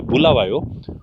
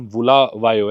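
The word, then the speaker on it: Bulawayo: और इसका मतलब भी होता है, शायद एक्चुअल प्रोनाउंसिएशन बुलावायो है इनकी भाषा में, जिसका मतलब होता है कि भी जिधर लोगों को मारा जाता है या ऐसे कुछ।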